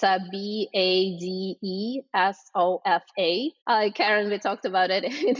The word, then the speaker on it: Badesofa: how it's spelled phonetically, but it's a Badesofa, and it's literal translation from German as a bath sofa.